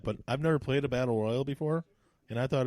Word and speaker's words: Battle Royale: You said Battle Royal. You didn't say Battle Royale. It's Royale.